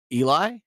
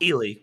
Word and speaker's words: Ely: It looks like Becky Eli? No. Ely. Becky Ely.